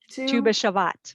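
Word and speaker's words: Tu B'Shevat: Tu B'Shavat.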